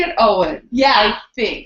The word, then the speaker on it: Ioan: Owen. And probably I think they say it. Yeah, it's spelled strange. IOAN. Yes, like an ion. That's why I think I think they say it Owen.